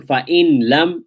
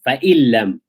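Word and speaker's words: فإن لم: So instead of saying fa'in lam, taking the trouble to separate both letters, you can merge them and do idgham to make that ease of pronunciation. Fa'illam.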